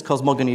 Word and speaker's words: cosmogony: cosmogony I I guess Philip says cosmogony because it comes from the Greek the gamma I probably would pronounce cosmoginy Maybe I'm Wrong um but this idea